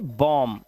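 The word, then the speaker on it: bomb: इस तरह से बॉम, बी साइलेंट है, इसका मतलब होता है बम।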